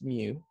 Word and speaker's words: mu: and we signify that as mu that is pronounced as mu it's a Greek letter kind of like a